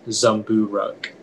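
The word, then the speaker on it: zumbooruk: any alternate pronunciations uh it's just the one zombu ruck zumburuk z u m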